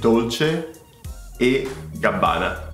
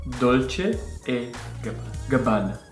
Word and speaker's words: Dolce e Gabbana: I just mispronounced it. Ah, okay. Okay, fair enough. Dolce e Gabbana. Dolce e Gabbana.